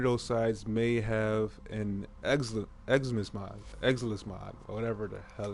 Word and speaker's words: Exilus: One of those sides may have an Exilus mod, or whatever the hell it's called.